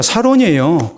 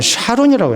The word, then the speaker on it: 사론: 그것도 옛날 성경이나 지금 성경이나 사론이에요. 근데 찬송가는 샤론이라고 해놨어요. 그것도 잘못됐어요. 자세하게 봐보세요. 샤론이 아니고 사론이에요.